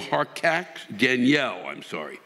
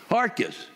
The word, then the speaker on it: Harkatz: How do you pronounce it? Harkus. Well, fucking spell it that way.